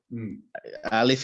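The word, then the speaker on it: ألف: Alif is pronounced when the tongue is at rest.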